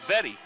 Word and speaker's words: Vetty: That's Vetty. Vetty, okay. Vetty. That's how they told us to pronounce it, Vetty.